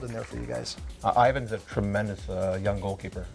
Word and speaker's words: Ivon: right is it Ivan is it Ivan it's Ivan it's Ian yeah it's Ivan noted for future reference